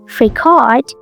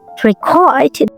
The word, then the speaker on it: record: When you say record stress on the second syllable, it's an action. I will record.